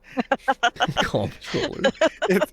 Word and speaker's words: comptroller: Comptroller. It's literally controller with that spelling.